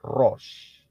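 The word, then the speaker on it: ראש: rest a left dan Shin itu bunyinya ya prononciationnya atau pengucapannya adalah Rose kalau sudah ingat kata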